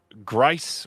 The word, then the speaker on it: Grice: also wants to let you know that Grice rhymes with rice.